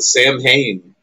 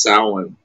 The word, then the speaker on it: Samhain: Everybody calls it Samhain, Oh shit! Oh. but it's actually Oh, man. pronounced Samhain.